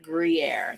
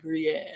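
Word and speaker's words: Gruyère: Green air, not green air. Gruyere. That's how you say it. Gruyere.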